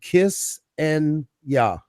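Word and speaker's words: Ksenia: to say it would be kiss and yeah. Kiss and yeah. Gotcha. Just Like kissing yeah. Kissing. I like that. Yeah. Oh, that's easy. And Mhm. guess what? That's how I'll spell it now. That's what I do for people. I'll type in the chat if they want to know. I'll always write KISS-N-YA. That's kind of the phonetic.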